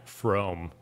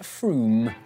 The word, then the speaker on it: Frome: dialect for this wrong it's not from f-r-o-m-e it should be blitheringly obvious it's pronounced froome but if you did